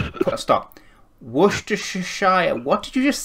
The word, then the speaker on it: Worcestershire: Worcestershire, what did you just say? Worcestershire?